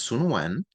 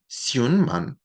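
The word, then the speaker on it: 孫文: a native Cantonese speaker, he had both a Mandarin pronunciation for his name, which was Sun Wen, and then he had a Cantonese pronunciation of the name, which is Xun Man, right?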